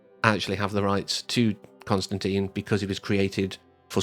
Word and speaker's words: Constantine: It's Constantine, not Constantine. I do not agree with that pronunciation.